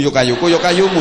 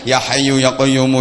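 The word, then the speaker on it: يا حي يا قيوم: Harusnya ya hayyu ya qayyum, ya hayyu ya qayyum, dibaca yo kayuku yo kayumu, yo kayuku yo kayumu, yo kayuku yo kayumu. Harusnya kan ya hayyu ya qayyumu, ya hayyu ya qayyumu, ya hayyu ya qayyumu, ya hayyu ya qayyumu.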